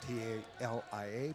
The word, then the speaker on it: Talia: So Spencer, number 14, actually it's Talia Spencer, T-A-L-I-A, pronounced Talia Spencer.